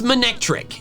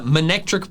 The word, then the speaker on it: Manectric: Just look, if the first part of its name comes from the word maneuver instead of mane, then the pronunciation Monectric makes sense. Maneuver, Monectric.